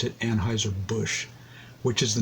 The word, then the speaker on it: Anheuser-Busch: He pronounced it Anheuser-Busch, which is the name of the company now.